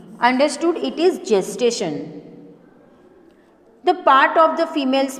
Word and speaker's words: gestation: कर रही हूँ कि इसको गेस्टेशन नहीं जेस्टेशन बोला जाता है। while pronunciating it you have to use j, not g. Understood? It is gestation.